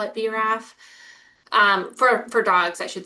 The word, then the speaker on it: BRAF: And for yeah, me, BRAF would be B-RAF. I know, and it's not like in the papers it gives you the pronunciation. Okay, well, now we all sound a little bit smarter, and thank you for letting me interrupt. That makes me, okay, so from here on, I will say BRAF. It will be one extra syllable to make my talks even a little bit longer.